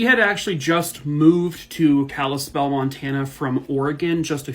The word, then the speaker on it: Kalispell: 24 years old and he is living in Kalispell Montana I looked up the pronunciation I hope I said it correctly Jacob